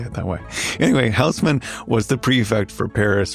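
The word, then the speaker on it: Haussmann: named George Eugene hman whose name I will pronounce the English way in French it's more like George Eugene Osman yeah I don't know how to say it that way anyway Housman was the prefect for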